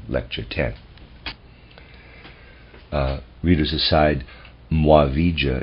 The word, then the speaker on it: Muavija: uh readers aside muavija is spelled m-u-a-v-i-j-a mwave end of readers aside